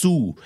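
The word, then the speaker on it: sous: นะ ครับ ก็ คือ สู้ s o u s s ขาย ไม่ ออก เสียง สู่ ก็ แปล ว่า Under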